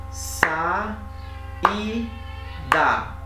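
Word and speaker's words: saída: E o hiato é quando essas vogais vão ficar juntas. Por exemplo, como é que vocês pronunciam essa palavra? Ó, então devagarzinho. Sa, i, da.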